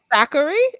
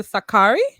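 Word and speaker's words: Sakkari: we're saying names wrong a curry I guess the stress on the first syllable a curry as opposed to Sakaki no I don't believe that I spoke with her coach he called her Sakaki Sakaki - I mean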